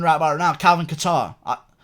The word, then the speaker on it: Kattar: Byron out of Calvin Qatar it's not Calvin cater okay I don't know why